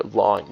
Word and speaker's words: ln: point log base e can be written as ln or lawn you might see people pronounce it as so if you ever heard of lawn or ln that's where it comes from anyways I'm going